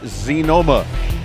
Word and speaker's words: Xenoma: to break them so xen OMA pronounce zi Noma will bring you further